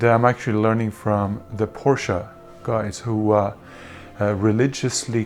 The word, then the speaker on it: Porsche: to death and say, no dude, it's Porsche, not Porsche.